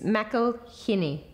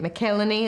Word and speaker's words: McElhinny: how do you pronounce it's Mel hiny okay not one person not one person said it right I don't think no I get melany a lot um and unpronouncable generally